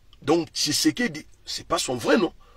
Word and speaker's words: Tshisekedi: ezaka difficile à prononcer le luba prononce ki comme chi donc Tshisekedi c'est pas son vrai